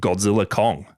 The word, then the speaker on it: Godzilla x Kong: Wingard just calls it Godzilla Kong the New Empire. Oh, the X is silent apparently.